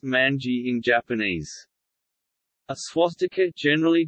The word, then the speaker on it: 卍: In China, it is named Wanwan, Wanwan meaning all things, pronounced Manji in Japanese.